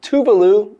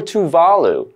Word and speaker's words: Tuvalu: making itself digital now you might hear people say tuvalu or tuvalu because both of these pronunciations are acceptable but what does it